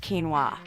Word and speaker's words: quinoa: packed with nutrients a grain called quinoa is grown for its edible seeds we refer to these seeds as quinoa which is pronounced quinoa quinoa is actually a pseudo-serial grain despite the